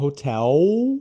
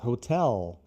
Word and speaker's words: hotel: Não, hotel, ao, é aberto assim, ao, mas hotel. Lá, lá, lá, hotel.